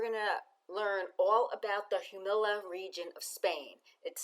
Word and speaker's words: Jumilla: this episode we're gonna learn all about the humila region of Spain it is spelled j-u-m-i-l-l-a and it's pronounced humila I attended a great master class and I'm